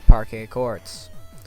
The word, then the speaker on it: Parquet Courts: King gizzard and the lizard wizard now here's parquet courts we're back in New York with the art